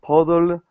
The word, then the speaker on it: puddle: model a puddle to your po into your puddle build a noodle a bottle pot a puddle